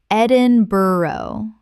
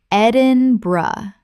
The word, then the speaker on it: Edinburgh: Gloucester Gloucester Word 103 Edinburgh Common mispronunciation Edinburgh Correct pronunciation Edinburgh Three syllables with the bur collapsing to bra.